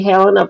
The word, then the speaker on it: Helena: I say Helena because that's how it gets pronounced up here in Scotland.